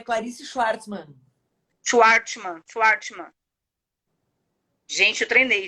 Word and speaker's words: Chwartzmann: Não, Fala aí como é a tá pronúncia. bem. É Clarice Schwartzman.